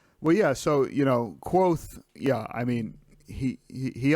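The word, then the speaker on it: Kvothe: book in the book he actually says it's pronounced quoth like q-u-o-t-h-e like quoth the raven nevermore right um yeah but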